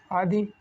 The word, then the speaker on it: अधिशासी: अब देखते हैं अधिशासी, तो इसका क्या होगा अधिशासी का अधिशासी, इसका सही उच्चारण ये होगा सा षटकोण की जगह पर ये सा सपेरा बनेगा।